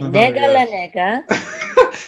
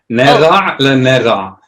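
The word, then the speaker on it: נגע לנגע: Because there's no dagesh in the gimel, and ayin should be pronounced. Okay, teach me that. Gimel with a dot inside is g. Uh-huh. With no dot, it's like kind of like the Parisian R.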